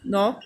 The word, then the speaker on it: knock: Knife, knock, knuckle. If K is followed by N at the beginning of a word, then K is not said.